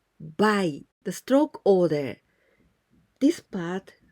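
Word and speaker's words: 買: And onyomi, we pronounce buy.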